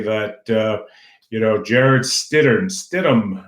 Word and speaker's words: Stidham: you know Jarrod Stidham Stidham I guess is the way you pronounce it the young backup quarterback